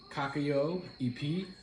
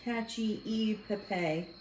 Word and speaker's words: cacio e pepe: I literally went to Google and ask for pronunciation and I probably still said it wrong cocko EP p p p anybody want to guess what